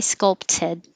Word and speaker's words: sculpted: You could say sculpted perfectly, but more casually, that will change to a D.